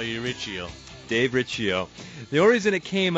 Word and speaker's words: Riccio: bumper to bumper radio I am Dave Riccio not Riccio anymore I'm correcting my name I've been saying it wrong Dave Riccio here along